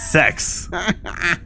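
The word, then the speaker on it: Sekz: It's spelled S-E-K-Z. Sex.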